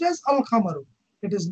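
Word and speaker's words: القمر: Whereas for the lunar letters, no such assimilation takes place with the lunar letters. For example, al-qamar, al-qamaru, the moon. It is pronounced as al-qamaru. It is not pronounced as akkamaru.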